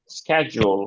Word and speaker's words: Schedule: স্ক্যাজুল, Schedule.